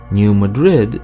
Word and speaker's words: New Madrid: Louis something is off with the accent here there are many examples of how Missourians pronounce some words the wrong way but the most obvious examples are into town's names there are a number of towns with internationally recognizable names but with completely different ways of saying the names out loud for instance Cairo is not pronounced Cairo but rather Cairo New Madrid is obviously named for the Spanish capital but it's pronounced New Madrid Versailles is not Versailles